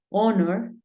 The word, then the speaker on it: honor: House, home, horse, pero hay algunos casos como cuatro palabras en las que la H es muda. Por ejemplo, hour, que es hora. Tenemos eh honor y tenemos honest.